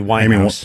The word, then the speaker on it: Winehouse: And there's Amy Wine uh Amyin Amy Wine House. Amy Wine House, right? Said her name wrong before.